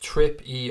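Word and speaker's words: Trippier: Melwood nailed on Prague it's pronounced trip EE or JPA its current trip yet I know I'm terrible at pronouncing things but it is Karen trippy a fake maybe was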